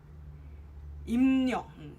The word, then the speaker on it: 입력: Now if the B is followed with an L, okay, so for example, 입력. 입력 is pronounced as 임력.